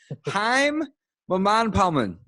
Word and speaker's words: Haim Mamane: Haim Mamane.